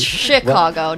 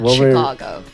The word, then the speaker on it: Chicago: one I still have not learned how to pronounce Chicago Chicago it's Chicago not CH Chicago yeah yeah yeah I was pronouncing it Chicago